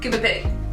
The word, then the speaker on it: Coober Pedy: Hey, today we're talking about Coober Pedy, or as the locals say it, Coober Pedy.